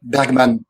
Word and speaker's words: Bergman: is quite different from Bergman, or Bergman, before the Swedish pronunciation police gets me.